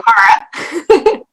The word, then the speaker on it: Kara: Did I pronounce both those correctly? No. I'm Kara.